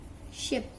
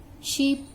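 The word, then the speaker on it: ship: जैसे कि छोटे के ले लेते हैं हम शिप, शीप नहीं बोलेंगे, इसको शिप बोलेंगे।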